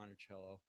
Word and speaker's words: Monticello: pronounced monello or monello well look if we only had tape recordings of Thomas Jefferson we would know the answer but we do know that Jefferson spoke Italian and monello means little Hill or hilock in Italian so we're pretty certain that that he did pronounce it monello now you I thought